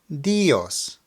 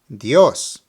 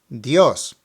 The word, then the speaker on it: Dios: and an O so you have to stress the O while making the sound now let me first mispronounce it and put the emphasis on the I dios dios now the correct way dios dios a little faster